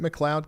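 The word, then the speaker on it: McLeod: Is it Is it Mloud County?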